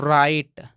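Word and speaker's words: write: राइट का मतलब लिखना अब ध्यान दीजिएगा इस राइट में डब्लू साइलेंट है यानी इसको पढ़ते ही नहीं है केवल इतना को पढ़ते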